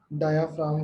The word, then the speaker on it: diaphragm: DIAPHRAGM। बेटा जी साइलेंट रहता है यहाँ पर, ठीक है? डायाफ्राम cell.